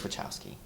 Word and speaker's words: Wachowski: Well, we should by now, but like JT says it one way, and the rest of us are pronouncing it one way. It's Wachowski.